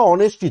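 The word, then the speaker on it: honest: तो ऑनेस्ट person, ये जो एच इस कॉन्सोनेंट, बट इसका जो साउंड है, इसका जो उच्चारण हो रहा है वो एक भावेल की तरह, ऑनेस्ट।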